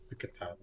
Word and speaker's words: Picarto: unless it was like Picataro Picato. or Picarto. Yeah, it's Picato. Yeah. Just like Picataro. You shush. Everyone pronounces it as Picato.